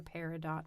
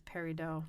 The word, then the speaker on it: peridot: The Arabic word feridat meaning gem is where the name for paradot comes from.